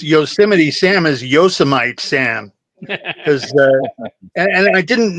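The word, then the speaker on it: Yosemite: you know o and then the the E is silent yeah yite yosmite not yosim but well that sounds like a kitchen countertop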